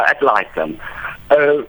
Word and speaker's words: ad litem: So what is the difference between the curator bonus and the curator ad litem? Is that how you pronounce it? All right. Yeah, ad litem.